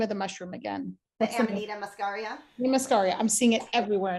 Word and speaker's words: Amanita Muscaria: The Amanita Muscaria.